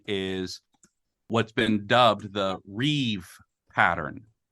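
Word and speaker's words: rîb: One thing that's very common is what's been dubbed the Rev pattern. It's spelled R-I-B, but that's coming from the Hebrew word Rev, which means contention.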